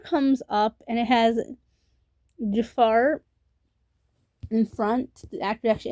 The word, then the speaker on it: Jaafar: His name is not Jafar or I've heard you defeat her. It It No, it's pronounced as Jaafar, just like in Aladdin.